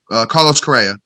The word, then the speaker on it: Carlos Correa: Carlos Correa.